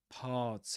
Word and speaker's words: parts: We mentioned that enchanters, parts, and Arthur are pronounced with the same vowel sound, at least the stressed syllables.